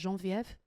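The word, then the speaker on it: Genevieve: did you know that your name is actually French and it's actually pronounced Jean Viv and you may not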